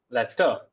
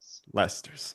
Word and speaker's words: Leicester: What's the pronunciation of that British term of that area in the world of Britain? Lester. Leicester.